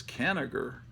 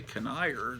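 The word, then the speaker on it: Kanigher: um Joe Hubert issue I always pronounce the this canager but I heard Shannon say can ire the other day on uh so he might be I'm sure he's right because he went to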